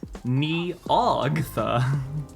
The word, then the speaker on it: Nyogtha: This one was chosen very intentionally for you, Neo, because as far as Chaosium thinks, that's Neogtha.